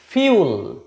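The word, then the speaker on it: fuel: তাহলে এটা হচ্ছে ফিউল।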